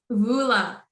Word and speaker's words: Voula: Please correct me if I'm pronouncing your name right. Please tell me. Vola.